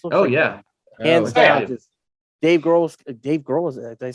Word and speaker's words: Grohl: Just Dave Grohl.